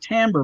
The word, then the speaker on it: timbre: smith caught amber match even though it's t-i-m-b-re it's pronounced timber matched so you can blend